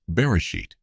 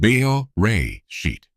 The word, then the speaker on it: Beresheet: That smear is the grave of a spacecraft called beer sheet, pronounced beo ray sheet.